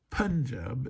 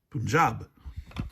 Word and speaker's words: Punjab: So it's not Punjab, it's Punjab, right?